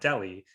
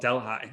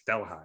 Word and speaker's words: Delhi: there's a town called we would call it Delhi, but it's called Delhi. And so If you pronounce it Delhi, everyone knows that you're not from our county, because it's Delhi, obviously.